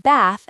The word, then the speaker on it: bath: The word bath has a different A sound than in American English.